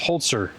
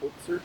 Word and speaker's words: Holzer: Let's talk about Hans Holtzer. Honer holeser. So I It's read as hoer, but I guess it's pronounced holtzer. Holtzer, like with a t.